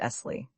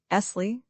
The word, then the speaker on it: Esley: "My name," he said, "is Esley." He pronounced the word, lingering upon the double SS till it sounded like a long hiss. "Esley," he repeated as though he derived some satisfaction from the repetition.